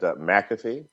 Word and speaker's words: McAfee: what's the right pronunciation I think I actually actually actually my family has always said McAfee oh so I was